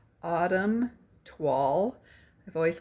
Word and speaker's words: Toile: series paper called Autumn Twall. I've always called it toil, T O I L E, but it's French and we we don't pronounce it like they do.